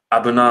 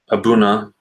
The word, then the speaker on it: A'bunadh: Abuna is how I believe how you pronounce it. Abuna, something like that.